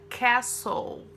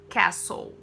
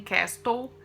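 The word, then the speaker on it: castle: com a palavra Castelo prestem bem atenção na pronúncia porque é bem diferente do que você pode imaginar Castelo inglesa Cassol Cassol aqui não é cápsula e nem késttou aqui é a sou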